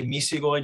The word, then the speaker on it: Misigoy: good enough with me when i say it i usually say misigoi just to get the long eye sounds to try to you know keep the spanish italian-ish pronunciation but um but yeah as long as it's a hard g sound there's no problem gotcha